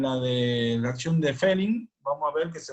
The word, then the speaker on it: Fehling: la otra reacción, que se llama reacción de Fehling. Se escribe F-E-H-L-I-N-G, reacción de Fehling.